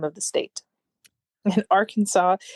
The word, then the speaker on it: Arkansas: so pronounce it carefully so when you're in Arkansas don't say Aransas right all right so